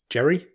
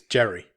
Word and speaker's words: Jere: pronounce his class name but it's j-e-r-e jerry yes it's jerry jerry burns he plays